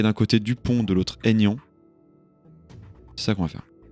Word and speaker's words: Aignan: Comme ça se prononce. Bon. Aignan. Nian.